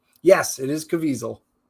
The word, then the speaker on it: Caviezel: sounds of freedom uh Jim Caviezel did I pronounce that right yes it is caviesel right nice um and uh it's well Dennis